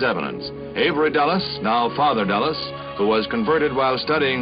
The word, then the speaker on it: Dulles: The pronunciation is Dallas. I don't want to say anything. No, no, but you're right. It's like the airport in in Washington dedicated also.